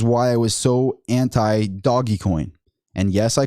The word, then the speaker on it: Dogecoin: I know a lot of people are like, that's not the way you're supposed to pronounce it. You're supposed to pronounce it Dogecoin. It's Dogecoin.